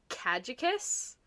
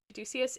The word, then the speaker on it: caduceus: I always pronounced it as caducus, but apparently it is I don't know what that is. caduceus.